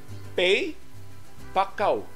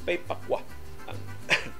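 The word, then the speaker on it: Pei Pa Koa: Nagtitanaw dyan ko sa mga websites aning Pay Pakwa, unsay pronunciation ini, sus ang ila pronunciation, Pay Pakaw. Pay Pakaw? Nakwa man, K-O-A man. So Pay Pakwa ang pronunciation ani.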